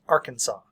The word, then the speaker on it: Arkansas: Arkansas is spelled Arkansas, but pronounced Arkansas.